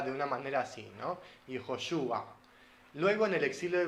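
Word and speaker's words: יהושע: Porque la letra Ain, que es la letra final de ese nombre, en hebreo antiguo, tenía un sonido como gutural, como entonces era Yehoshua, sonaba de una manera así, ¿no?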